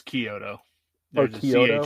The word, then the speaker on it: Chiodo: It's Chiodo. There's a Chiodo? CH, but it's a CH, but it sounds like a K.